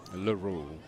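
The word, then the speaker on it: Laroux: Um Dalton Laroo or Laro, however they want to pronounce that. L A R O U X Laru.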